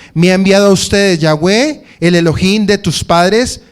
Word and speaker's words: Yahweh: una serie de análisis de su pronunciación, es Yahweh.